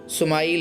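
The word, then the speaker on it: ישמעאל: خوشخبری سنا دی گئی۔ عبرانی زبان میں اسماعیل کا تلفظ سمائیل ہے، سما کے معنی ہے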